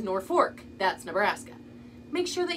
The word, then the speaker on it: Norfolk: of them say Norfolk one says Norfolk that's Virginia and one says North Fork that's Nebraska make sure